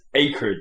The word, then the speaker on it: acrid: I remember the storyline saying that even though it's spelled acrid, and everyone says acrid, it's like the storyline, the voice acting goes acrid, and you're like, sorry, what?